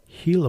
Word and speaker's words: Gila: in hila G it's spelled Gila monster but pronounced heila monster so she was pronouncing giant the same